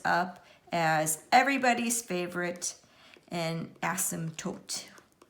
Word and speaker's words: asymptote: as everybody's favorite and asymptotes with the silent P okay so what I'm